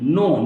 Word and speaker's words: knee: यहां पर के को ड्रॉप करना है, के पढ़ने की जरूरत नहीं है क्योंकि उच्चारण इसका नी है, नी माने घुटना, तो के की जरूरत क्या है, राइट।